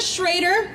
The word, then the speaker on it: Schrader: So please remember, on November 8th, vote for Amanda Schrader, rhymes with potato, but it looks like Schroeder, and I blame my in-laws.